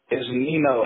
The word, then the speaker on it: Nino: Is it Neo or Nino? How do you say your correct name? It's Nino. N-I-N-O. Nino.